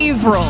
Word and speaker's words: Haverhill: Haverhill. Averill.